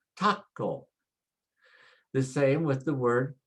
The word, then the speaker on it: taco: So for example, if I see the word taco, it ends with a vowel. And so the next to the last syllable is ta. And so I put the stress there and say taco.